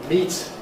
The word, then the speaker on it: meat: Meat is meat rhymes with your feet.